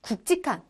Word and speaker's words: 굵직한: 될지 우리의 곤란한 루피 그러니까 뒤 꼴로 마르면서 굵직한 이라고 발음하는 게 맞다 알겟지 꼭 함 법